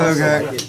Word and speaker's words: Hogaak: It's Hogaak. It's 2 A's, not 2 O's.